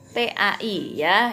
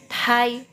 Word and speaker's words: tai: Nah, T a i bukan dibacanya tai ya, bukan ya. Tapi tha ya thailan ya. Tha gitu.